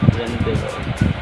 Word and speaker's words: rendezvous: Ito yung pronunciation niya. Rendezvous.